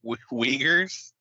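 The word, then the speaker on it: Uyghurs: Is that really how you say it? Weaguers weaguer community. That's how they say it when I watched all the I believe you.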